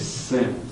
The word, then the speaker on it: CEN: You can think of it as CEN, C-E-N, rhymes with Zen, or a concept.